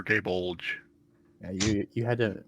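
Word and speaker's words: Gáe Bolg: supposed to pronounce it it's either gay bolg or gay bulge yeah you you had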